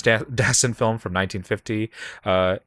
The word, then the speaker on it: Dassin: Jules the sound film I keep wanting to say his name as if he's French Jules dassin he's from Connecticut Jules Destin film from 1950 uh